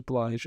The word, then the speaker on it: Blige: Blige. It is Blige. Okay. And At least that's how I've always heard it pronounced.